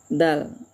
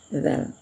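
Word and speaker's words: د: Nah, dal yaitu ya membacanya tidak seperti membaca bahasa Indonesia da dengan da da juga tekanannya ke lidah juga ya. Tapi tipis ya. Nah, da da da ya gitu caranya.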